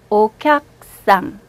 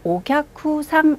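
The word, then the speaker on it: おきゃくさん: 자, 저 따라서 읽어보세요. 옥약상. 옥약상. 이렇게 읽으세요. 옥약상. 자, 이때 굉장히 예리하신 분들은, 오, 이상하다. 선생님, 지금 옥약후상 이렇게 안 읽고, 옥약상 이렇게 읽었으니까, 여기 있는 이 쿠자가 안 들리네.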